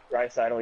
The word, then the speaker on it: Draisaitl: I think it was Drisdell, however you say his name. Draisaitl? Draisaitl, yeah.